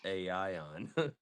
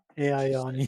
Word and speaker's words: Aion: As fourth grade spelling be champ, I would say it's Aion. Aion. Yeah. Yeah, you said it right.